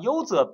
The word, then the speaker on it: usr: 对，那这个 user 就可以叫 user，其实它就读作 user，没问题。